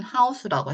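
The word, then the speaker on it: house: 그런데 여기서는 OU가 이게 일타쌍피로 아우 발음이다. 그래서 여러분이 지금 얘는 이는 없어지고 요 일타쌍피들을 이중모음, 이중자음들 지금 배우시는 중인데 그 중에 하나 나와 있는 게 OU이기 때문에 이거는 또 아우 발음입니다. 그래서 이거는 하우스로 읽어주는 단어인데 여기서는 이 오를 모음으로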